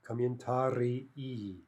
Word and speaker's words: комментарии: Now note the spelling difference there, right? The singular ending e, that's one syllable, but the plural is ee, right? So if we say it very clearly, we get two distinct syllables.